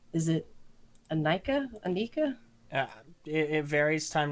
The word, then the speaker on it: Inika: Is it Anika? Anika? Uh, it varies time to time, but the official pronunciation is Okay. Inika.